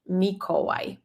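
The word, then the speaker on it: Michał: like w in English mikoi mikoi Michael Mike very beautiful polish name m m c is silent yeah because it's the letter combination so CH H equals H you just ignore the C completely in this combination and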